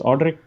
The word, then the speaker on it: Audric: back for those that are interested it's it's audrey is that how i pronounce it right yes audrey means a wise ruler and that's the name